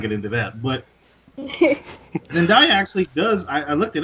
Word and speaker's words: Zendaya: Like Stan Lee, the guy Dakota hates so much, supported like the role going to Zendaya or That's how you say it, Zendaya.